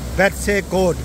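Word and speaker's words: Betws-y-Coed: इस जगह का नाम है जी बेट्से कोट, वेलिश में इसको, इस जगह का नाम है बेट्से कोट, ये वेलिश में इसको इस तरह प्रोनाउंस करते हैं।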